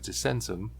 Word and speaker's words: Descensum: And yes, I am aware that they tried to pronounce it slightly different on the show, but this is how you should properly pronounce it.